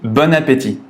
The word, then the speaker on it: bon appétit: à le prononcer correctement il faut faire la liaison à la fin du mob ont jusqu'au début du mot appétit on dit bon appétit bon appétit mais on ne l'écrit